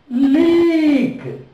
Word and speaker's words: leak: Now you read leak. Here, E, A is there, but it is sounded one vowel, E, long vowel.